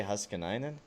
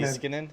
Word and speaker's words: Heiskanen: Why is his name pronounced like that? I don't know. I always say Huskinainen. Or Hiskinen. No, it's Heiskanen. Heiskanen? Heiskanen. Yeah, it's actually easy to say.